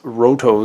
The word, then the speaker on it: Loto: about Eric's sword or loto sword or as sometimes it says roto sword that has to do with the Japanese pronunciation of L and ours so sometimes you'll see